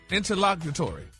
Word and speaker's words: interlocutory: It's a adjective and it's pronounced interlock interlocatory.